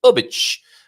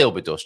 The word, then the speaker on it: Óbidos: Óbidos is how the locals pronounce it. But I'll say Óbidos just so that everyone might begin to know what I'm even talking about.